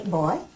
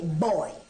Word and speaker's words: boy: And you don't say boy, you say boy. When it's properly said, it's a two-syllable word.